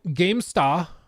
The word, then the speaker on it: GameStar: yeah the German magazine gamesta if it's German I have to pronounce it that way right otherwise I can be like arrested or something magazine Gamestar said the leak about